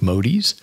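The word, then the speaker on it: Modys: nice to have unique last name uh like modies that's m o d Ys um often misspelled and mispronounced but uniquely spelled it is it's one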